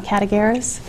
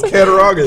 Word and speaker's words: Cattaraugus: I think CCLS, which is the library system here for Chautauqua, and I always pronounce this wrong, Cattaraugus. Is that right? No, Cattaraugus. Cattaraugus.